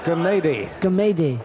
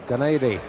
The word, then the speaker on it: Gumede: Pronounce it for me, Dave. Gumede. Gumede.